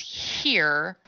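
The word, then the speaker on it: hir: is spelled Ze and here which is spelled h iir and I decided to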